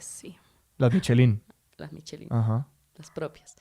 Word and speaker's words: Michelin: porque es Michelin. es Michelin. Oh, lo ¿Sí, he estado Michelin?